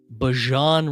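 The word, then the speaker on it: Bijan: I already got the pronunciation dialed in. Bjon Robinson.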